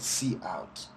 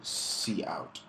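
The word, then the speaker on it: cout: output the word output you call it C out that's how I pronounce it it's an output stream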